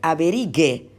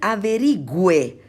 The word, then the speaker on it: averigüe: Entonces, si yo escribo averigue, si yo lo leo, tengo que leer averigue. Yo quiero decir averigüe, porque tengo que mantener la misma pronunciación.